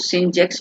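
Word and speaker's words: sinh: तो कोश एक्स, और ये जो साइन एच एक्स लिखा हुआ है इसको सिंच एक्स पढ़ा जाता है, सिंच एक्स, SINCH है ना, ऐसा इसका प्रोनाउंसिएशन है।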